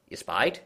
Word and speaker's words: espied: Though that object seemed scarcely nearer than when I had first espied it. Espied? Is that how you say that? Yep, that's how it looks like, espied.